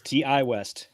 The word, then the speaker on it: Ti West: right prob say it it's TI West TI West directed by